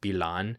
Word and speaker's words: Pillan: It's Pillan, and I think it's pronounced Bilan. I don't think it's the same double L Y sound as in Spanish.